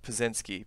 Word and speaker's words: Piecznski: This is So, in the United States, it's pronounced Piecznski, but that's not correct in terms of the Polish. Yeah, it's wrong in terms of how it's supposed to be pronounced in Polish. We're missing a letter. It's a Y. So it should be Piecznski with the Y, but it's spelled incorrectly.